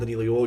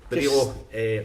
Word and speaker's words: Danilo: Danilo, come on, I know you called him Danilo, you had an extra syllable on, right, that's fine, I'm not arguing with you.